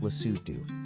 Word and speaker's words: Lesotho: This is Lesotho, pronounced Lesotho, the kingdom in the sky.